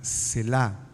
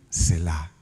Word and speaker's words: Selah: no sé si la ha visto, la palabra Selah.